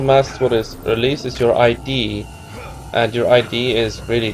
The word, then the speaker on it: id: I think it's just called id. I learned it in Icelandic. I have no idea how it's pronounced in English or Deutsch. I don't think it's actually, like, saying ID makes it seem like it's an acronym or something.